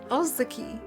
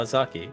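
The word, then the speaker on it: Aozaki: to pronounce these correctly. It sounds so fucking familiar. Alzaki. I mean, we did talk about this character before. Alko Alzaki. Alko Ozaki, yeah.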